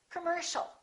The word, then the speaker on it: commercial: final word once again the second syllable is stressed the O and the I a are both reduced so it's not C or C it's come come commercial don't say commercial or commercial it's all commercial all right let's practice